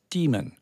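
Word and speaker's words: daemon: the library is a demon you will hear some people pronounce that as demon people that would put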